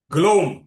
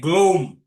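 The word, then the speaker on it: ग्लौं: ग्लोम ग्लो नहीं है। ग्लोम इसका उच्चारण है ग्लोम।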